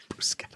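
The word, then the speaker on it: bruschetta: Italian to go with my brusqueta. Bruscetta. I swear to God that's the right way to say that.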